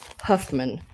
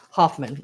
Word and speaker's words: Hoffman: now this is a Huffman fabric um which is a brand named fabric if you look up Huffman's Fab Hoffman I'm sorry I'm saying it wrong Fabrics online you're going